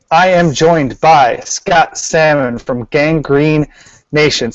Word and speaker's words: Salmon: am joined by Scott salmon from Gang Green Nation say hi Scott hi there Scott Salman Salman Sal yeah heavy pronunciation on the L yes and the first